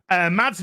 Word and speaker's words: Mads: Mads, or I think it's actually pronounced Mass, has become a member at the Bard level.